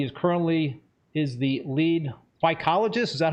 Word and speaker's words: phycologist: facilities worldwide he is currently is the lead psychologist is that how you pronounce that yep I'm an algae guy gotta